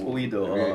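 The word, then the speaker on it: oído: Well, sa Chabacano, we spell O-I. It O-I. Uwido. Uwido.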